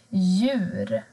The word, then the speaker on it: djur: Men har du D och J tillsammans, då försvinner D. Du hör inte D. Till exempel djup, djur.